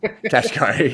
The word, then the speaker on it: Kashkari: So Bullard said something kind of different than, how do you pronounce his last name? Kaskrashahi. It seems like there's kind of dissent. Kashkari, yeah, Jesus.